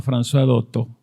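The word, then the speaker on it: Françoise Dolto: francesa que es maravillosa la recomiendo se llama franois doto se escribe francois dolto por si quieren buscarla después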